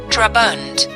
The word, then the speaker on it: Draban: Draban, as it is vulgarly pronounced, ought, I believe, to be called Daraban, but it is not like the Smythes, whom the world insists on calling Smith.